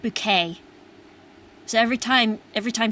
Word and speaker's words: Bucket: I was remembering um the old British TV show keeping up appearances with uh the main character whose name was uh higher bucket, but she always pronounced it bouquet.